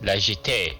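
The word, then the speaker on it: La Jetée: Joe from Pause and Select, please pronounce this French since you are a Frenchman. Legit.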